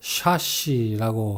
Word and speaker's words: chassis: 이 말은 차체를 받치는 부분, 즉 차대를 말하는데요. 우리말 외래어로는 보통 chassis라고 하는데 영어로는 chassis 또는 cassis가 아니라 chassis 또는 chassis라고 합니다. chassis가 됐든 chassis가 됐든 끝에 s를 발음하지 않는다는 사실이 중요하죠.